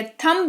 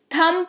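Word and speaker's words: thumb: जिसके वजह से यह थंब नहीं थंब पढ़ा जाता है। जिसका मतलब होता है अंगूठा।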